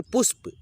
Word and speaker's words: पुष्प: तो देखिए पुष्प, देखिए प है आधा और य में जुड़ा है ना, तो य के साथ में प को थोड़ा सा तेजी में हम लोग उच्चारण करते हुए चलेंगे, ताकि इसमें अ का ध्वनि न आए।